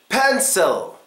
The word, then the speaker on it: pencil: Pencil. Pencil. Which one gets schwa'd here? Well, it's not the first one because then it'll be puzzle. So it's actually pencil.